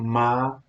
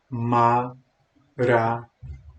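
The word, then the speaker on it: Maranatha: essa palavra silenciosamente em anteriormente é um quatro sílabas separadas assim a Maranata Maranata nada Me responde aí é a vegetação Como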